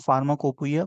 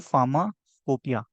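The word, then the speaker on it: pharmacopoeia: ठीक है, लेकिन इसको फार्माकोपोइया कोई नहीं पढ़ेगा, इसको पढ़ेंगे फार्माकोपिया।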